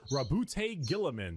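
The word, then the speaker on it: Roboute Guilliman: The Ultramarines, Allegiance, Loyalists, Primarch, Rabute Gilliman. That's how it's said.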